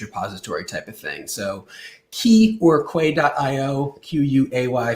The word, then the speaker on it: Quay: it's i'm told it's key um so we bought core os and they were like yeah and we bring along our product and it's actually pronounced key and we all kind